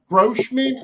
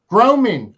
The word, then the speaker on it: Groman: I received the folder, but this is a Grossman, if I'm saying it right. It's a Grossman. Can you wait a minute? Groman. I'm sorry. Yeah. Yes, Groman.